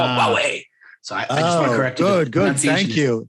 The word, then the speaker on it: Huawei: or something like that they're like it's called huawei sorry good good thank you thank you i